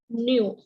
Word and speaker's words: knew: read as new right the k should be silent right so if i